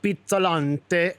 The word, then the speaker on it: Pizzalante: So did I say it right? Pizzalante. It's right. Super. Yeah, we were Yes, just pizza. pizza, like Yeah. pizza. I like pizza.